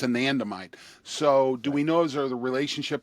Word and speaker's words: anandamide: anatom how do you say it I'm sorry anandamide anandamide um I don't think they looked at anandamide